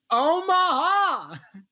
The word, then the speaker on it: Omaha: It's more of a 3-syllable thing. Omaha.